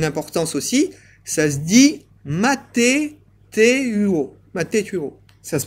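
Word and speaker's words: μαθητεύω: Le mot disciple, j'ai oublié de vous le citer, en grec, il a une importance aussi, ça se dit mathétuo. Mathétuo. Ça se prononce comme ça, et ça veut dire celui qui suit une instruction.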